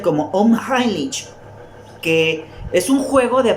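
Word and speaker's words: Unheimlich: donde los siniestro en el idioma alemán se pronuncia como omn highlitch que es un juego de palabras que al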